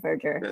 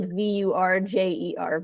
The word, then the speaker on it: verdure: So it sounds like VURJER, verdure.